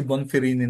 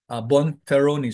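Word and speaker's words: Bonferroni: another post haw test si bonini naman Bon feroni Sorry Bon feroni Lagi akong nagkakamal pagpronounce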